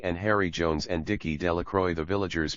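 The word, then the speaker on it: Delacroix: Bobby and Harry Jones and Dicky Delroy. The villagers pronounced this name Delacro Dash.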